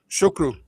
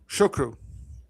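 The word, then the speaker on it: Ó Siochrú: How would I pronounce that in Carrie? Shukru. Shukru.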